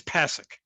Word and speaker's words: Pasek: Well, maybe if you lived in Poland, that would be the right way to say it, but it's Pasek.